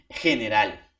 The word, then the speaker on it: general: Uno, cuando está con una vocal E y la I sin intercepción o sin no interviene la U, tiene el sonido de la J. ¿Ya? Por ejemplo, profesor, en este caso, ¿no? General.